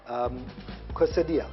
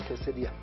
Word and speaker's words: quesadilla: Now, in Latino or in Latin, the double L's, whenever you have double L, is not pronounced as L.